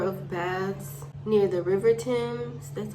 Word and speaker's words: Thames: London had a number of baths near the River Thames, that's how it's pronounced, but they called them stews.